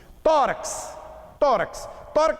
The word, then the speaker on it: tórax: Tórax tem 5 letras. O X de tórax tem duplo valor sonoro? Tem. Então, a palavra tórax tem 5 letras e 6 fonemas.